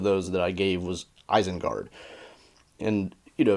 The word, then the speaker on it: Isengard: that I gave was eisenguard and you know if you applied the Elvis rules very strictly it would be Isengard which sounds awful right